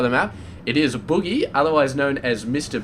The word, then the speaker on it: Bughy: off my tongue I used to call him Buie and apparently that's not the way to say it so the proper way to say it is Boogie but I don't want to be saying Boogie